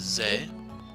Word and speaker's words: ぜ: ず Next up is ze, ぜ as in zen.